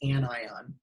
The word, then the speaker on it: anion: can have an anion so that's pronounced anion which can have which